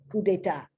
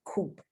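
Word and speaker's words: coup d'état: it's an overthrow but it's not coop but i think a coup i think that's the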